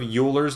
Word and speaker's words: Euler: you ever heard of Euler's number they're pronouncing it wrong it's actually pronounced Euler's number like oil the stuff you put in your car and what that number